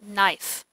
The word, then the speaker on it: knife: called a silent e it K is also silent so it sounds like knife knife spoon spoon okay this